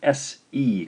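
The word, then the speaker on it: せ: Next is the SE combination. SE, romanized thusly, pronounced se, se.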